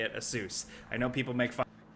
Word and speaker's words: Asus: Asus I know people make fun of me but I literally asked the company they that's how they say it but the newest thing